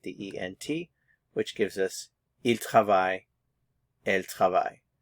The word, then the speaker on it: ils: ENT which gives us El notice the pronunciation we're not pronouncing the consonants at the end IL and El so